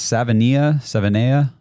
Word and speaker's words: Savaiinaea: And how did you say it's Savaiinaea?